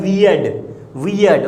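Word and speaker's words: we'd: वी हैड का हम लोग बोलते हैं शॉर्ट में, वो होता है वियर्ड, ओके।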